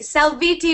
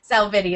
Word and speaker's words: Salvitti: salvi that's okay salvi salvi would be yes probably the proper way to say it but here in America sality is how I say it yeah salvi okay great